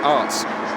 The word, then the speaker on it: Aerts: In the Renault, it's Tarek Bushman, Loris Garnier and Lewis Bentley, Angelo Scoot, Kevin Rishley, Nick Aerts is in the Nick Arts is the correct pronunciation there, are in the Audi.